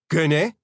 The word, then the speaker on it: gunne: Gunne is the same as gunna in English slang, but the vowel at the end is a long A, so the spelling reflects that.